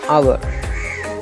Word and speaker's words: hour: உதாரணமாக an hour, ஒரு மணித்தியாலம். இந்த அவர் என்ற சொல் எழுத்தில் மெய்யெழுத்தை கொண்டு ஆரம்பிச்சிருக்கு எச். ஆனால் உச்சரிப்பில் ஓலேருந்து தொடங்குது. ஏனென்றால் எச்சுக்கு இங்கே சவுண்ட் இல்லை.